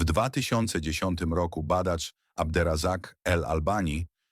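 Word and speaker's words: Abderrazak El Albani: W 2010 roku badacz Abder Razak El Albani, wymawiane Abder Razak El Alban zaszokował świat.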